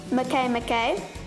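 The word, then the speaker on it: Makemake: mccain mckay it spells make make but it's pronounced mckay mckay and the last of all cirrus scientists believe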